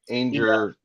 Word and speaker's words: Anger: I had Tell her she's got to drop the Anger rhymes with danger part of it, though.